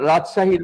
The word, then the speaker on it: রাজশাহী: যেমন রাজশাহীর মধ্যে কয়টি অক্ষর আছে? আমরা একটু দেখি। রাজশাহী, রাজশাহীর মধ্যে কয়টি অক্ষর আছে? রাজ, সা, হি ৩ টা অক্ষর আছে।